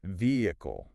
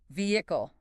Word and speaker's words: vehicle: I think a lot of learners try to pronounce every syllable very clearly. Oh, so like vehicle. Vehicle. Yeah, very precise. But native speakers tend to smooth it out a bit. They do dropping or softening that middle sound. It makes it sound more natural and less robotic.